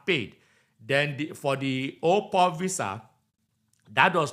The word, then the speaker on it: au pair: when you pair something but they said the pronunciation is op so I'm not a French person so bear